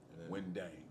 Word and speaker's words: Ngundeng: Ngundaing. Yeah. And then my last name, it's spelled.